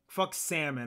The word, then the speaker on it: salmon: that no other goddamn no other goddamn language word in the english language has a silent l no um